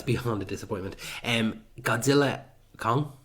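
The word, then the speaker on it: Godzilla x Kong: Godzilla Kong. I won't pronounce the X because apparently you're not supposed to.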